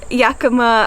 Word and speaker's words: Yakima: on a freezing beach, and we bought the Yakima, is that how you say it? Yeah, Yakima Roadshower.